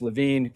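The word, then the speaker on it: Lewin: The father of social psychology is primar in in in group psychology is Kurt Leuen who was uh sometimes pronounced Lavine came over uh from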